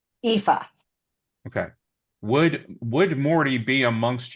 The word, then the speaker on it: Aoife: Fury's first name is pronounced Aoife. Aoife.